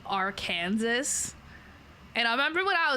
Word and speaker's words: Arkansas: But it's spelled like Arkansas. And I remember when I was little, I thought that's how you would say it, because it's Kansas. I thought it would be Arkansas. It's not Arkansas, it's Arkansas.